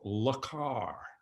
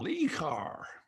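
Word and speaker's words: Le Car: five in the u.s it was called lakar in order to give it us a parisian sheik that would make it saleable but the guy mispronounced it i said what car have you gotten he said i've got lee carr and so from that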